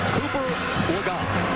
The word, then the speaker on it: Legault: Cooper Legault. That is the correct pronunciation, as we corrected ourselves just a few minutes ago.